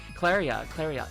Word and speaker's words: Claria: By the way, my pronunciation is Claria. Okay, something like that.